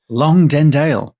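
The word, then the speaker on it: Longdendale: about the lights over lundale that's a place name wow lundale long dendale long dendale long dendale I did actually speak to my mother-in-law for pronunciations for this oh wow wow that's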